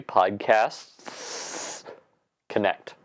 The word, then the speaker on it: Podcasts Connect: the wrong thing because you have to add an S in after the word podcast. So it's actually PodcastS Connect.